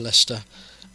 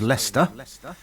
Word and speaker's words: Leicester: I also can reveal to you that because AI can't cope with the spelling of Leicester, all right, we have to input L-E-S-T-E-R. Okay. Because the AI robots that we use as newsreaders, they get to Leicester if it's spelt correctly, and you want to hear it. It sounds Welsh. It sounds like a Welsh railway station.